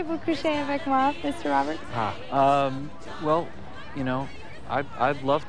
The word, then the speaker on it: Roberts: And how many times do I have to tell you it's pronounced Robert, Robert? The T and the S are silent.